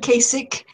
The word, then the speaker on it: Kasich: yes I don't know I've heard Kasich but you're right I've heard casage so I think both accept in in this hangout both pronunciations are acceptable okay so we're gonna